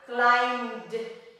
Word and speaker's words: climbed: Climbed. Climbed. It's soft. Climbed. You do not pronounce the E.